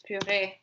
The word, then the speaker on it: purée: Yeah, and in English they say it in a fancy way, which is puree, but it's because in French it's purée.